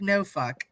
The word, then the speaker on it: Norfolk: The natives say it sounds like no fuck. Yes, that's how most people say it. I say Norfolk.